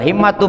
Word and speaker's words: himma: Wal himmatu bil kasri, lapad himma itu pakai kasrah.